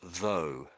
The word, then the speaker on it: though: Um, so well so this word this word here I would pronounce as though.